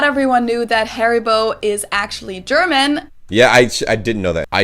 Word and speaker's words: Haribo: i did not know we pronounced it haribo oh wow haribol that's so weird it's like a different emphasis on different syllables we say haribo haribo but they say haribo so their emphasis is on the odd and our emphasis